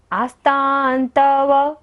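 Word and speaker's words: आस्तां: आस्तान, ता के ऊपर बिंदी है और बाद में क्या है, त। आस्तान तव, आस्तान तव, बिंदी का उच्चारण क्या हो रहा है, न।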